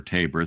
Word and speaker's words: Tabor: I would just point out that back in Hosanna Tabor or Tabor, thank you, Erwin, for your pronunciation, there was a concurring opinion by an